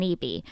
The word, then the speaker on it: Eby: And I would know because I'm a brand ambassador and pro-choice advocate Meagan Eby, which rhymes with BV.